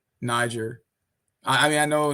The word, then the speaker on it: Niger: of the countries but it's pronounced niger not the other one it's niger but i